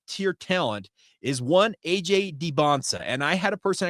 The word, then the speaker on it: Dybantsa: were making it very clear that it's AJ Debonsa.